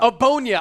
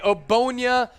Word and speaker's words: Ogbonnia: Ogbonnia. I knew the G was silent. The G is silent. Okay, Ogbonnia.